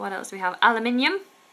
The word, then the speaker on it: aluminium: else do we have aluminium aluminium is a good one in America they say aluminum aluminum I have an aluminum can but in the UK we say aluminium aluminium okay what do we